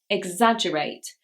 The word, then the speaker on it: exaggerate: Number 32 is actually the verb, exaggerate. Here, the stress is actually on the 2nd syllable.